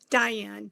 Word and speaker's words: Diann: exactly yeah beautiful beautiful so is your name pronounced Diane or Dian Diane thank you for asking Diane very confusing yeah I like to get the